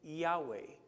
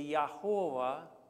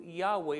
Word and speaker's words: Yahweh: So when they came to Yahweh, they would say Yahovah, because it was the vowel points of another name of God, Elohim.